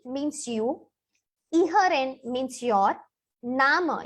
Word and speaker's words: Namen: Nama, you see the name spelling is the same, but the pronunciation is Nama.